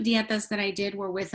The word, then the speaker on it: dieta: Could you tell us how to spell dieta? Is that how you pronounce that?